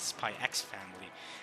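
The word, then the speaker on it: Spy × Family: I'm pronouncing Spy Family. I know a lot of people actually pronounce it Spy X Family, but I say Spy Family.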